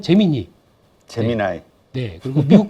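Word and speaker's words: Gemini: 우리도 갖고 있다라고 얘기를 하면서 딱 발표했던게 한국 발음은 재미니 제미나이네 그리고 미국 발음은 제미나이네 그래서 어 재미 나이라고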